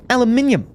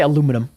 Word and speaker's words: aluminium: I'm trying to be rude, but Speedy Dog, why do you say aluminium with an extra I?